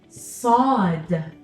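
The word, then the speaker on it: ص: Now, when I'm pronouncing the sound sa in the letter sod, what am I doing to my mouth? Sa, sa. You can't see my teeth. My mouth isn't opening. I'm not smiling.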